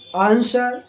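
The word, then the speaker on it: answer: डी सड यानी तलवार तो रंग आंसर सोर्ड तो तीनों वर्डों में डब्लू साइलेंट है लेकिन आंसर पढ़ते हैं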